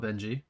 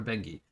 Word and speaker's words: Bengi: a girl i've heard she does not like to be called benji call her bengi that's all i know